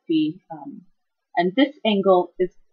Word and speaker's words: phi: Some people pronounce it phi. I pronounce it phi.